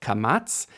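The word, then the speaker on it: קמץ: add a vowel Mark our first vowel Mark is called kamatz and as you can hear in the name Catz it makes an a sound c matz a names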